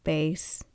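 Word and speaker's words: Béis: weekender back from base is actually pronounced base it's not practical for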